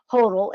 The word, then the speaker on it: Hotle: So I apologize for coming up with my own rendition of her last name. Hotle is how you say it.